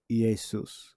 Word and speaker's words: Iesus: That's supposed to be an I there. And it's pronounced with the E. Iesus. Well, Iesus. All right. So that's how it's actually supposed to be pronounced.